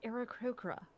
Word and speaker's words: Aarakocra: So I always said the bird people as Arakakra. Right. Because I had a parrot for a very long time, but but it's Aarakocra, very soft vowels.